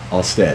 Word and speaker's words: Alstead: Is that how you pronounce it? That's right. Alstead. Alstead.